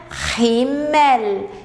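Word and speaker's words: Himmel: o céu der rymer lembrando só uma questão de pronúncia a aqui o h no início nós vamos pronunciar né he-man eo L do Alemão nós estamos de cuidar porque o l do Alemão é bem L mesmo tá língua tem que ir lá em cima no céu da boca he-man né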